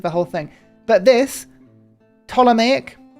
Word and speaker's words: Ptolemaic: But this, Ptolemaic, I'm pretty sure the P is silent. But people have told me both ways, right? I'm going to say Ptolemaic with a silent P because that's what I think it is.